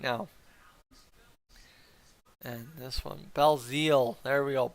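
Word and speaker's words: Belzile: now and this one Bell Zeal there we go Bell Zeal is how you pronounce it perfect now I know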